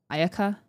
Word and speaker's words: Ayaka: of the the intonation because I know Japanese doesn't really have emphasis on ayaka ayaka ayaka like there's